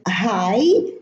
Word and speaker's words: high: the word, as in high, sigh, thigh. Also here, the GH are preceded by an I, and it's pronounced I, high, sigh, thigh.